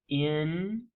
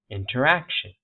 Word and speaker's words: interaction: So inter, and then right before this syllable here, right? See that? Interaction. Interaction.